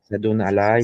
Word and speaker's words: Asadun Alay: Est-ce que c'est bien la bonne prononciation? Assadoun Alay, voilà.